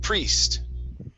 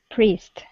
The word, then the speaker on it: priest: Instead of priest, okay, it's only an E sound. Priest. Priest.